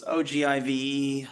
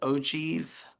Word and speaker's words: ogive: is what's called this ogiv. I just I just found out that the way you pronounce that is ojieve, which actually kind of makes sense.